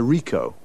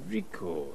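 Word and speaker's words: Ricoh: what make and model it's a rico rico how do you spell that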